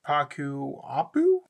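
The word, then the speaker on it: Ccapac Apu: into it first I run the Earthbound Immortal paku Apu and that's how it's pronounced you can only control one Earthbound and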